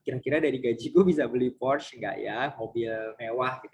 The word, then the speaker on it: Porsche: Porsche atau Porsche gitu ya bacanya. Ini mobil tapi biasanya bacanya Porsche. Kalau she itu biasanya e-nya ada topiknya, ada garis di atas e-nya seperti Beyonce gitu ya. Dibacanya Beyonce, bukan Beyonce. Kalau ini Porsche, biasanya dibaca Porsche karena e-nya tidak ada cukupnya, itu seperti dari bahasa Perancis gitu ya.